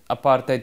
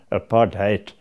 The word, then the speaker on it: apartheid: The policy of separate development, which the media mischievously branded apartheid with the accent on the HAT, hate, That was a policy